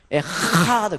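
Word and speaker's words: אחד: 에하드 굉장히 센 발음이에요.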